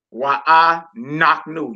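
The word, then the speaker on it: אנחנו: Why I naknu. You see, I'm putting the emphasis on the knock part because that lesser than symbol was above the noon.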